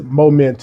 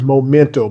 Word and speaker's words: Momento: overall man it is moment M I was saying it wrong in my short that actually got cut up or whatever I don't know what happened with that but this is momento by R like having